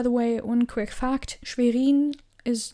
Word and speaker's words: Schwerin: Landeshauptstadt, Schwerin. By the way, one quick fact, Schwerin is like cities like, which was another city?